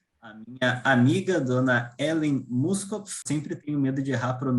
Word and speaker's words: Muskopf: minha amiga, dona Ellen Muskopf. Sempre tenho medo de errar a pronúncia do teu sobrenome, né? Então, por favor, Muskopf ou Muskopf? Muskop, tá correto.